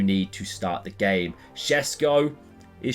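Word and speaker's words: Šeško: Shesko is Shesko, right?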